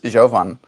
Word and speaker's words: Jovan: Her name is Jovan, with a O and an A instead of an A and an O. Javon. But people, like, when they hear it and they try to spell it, they spell it Javon all the time. Really? I, Javan? Javon. Jovan? Javon. Javan. The A sounds like an O.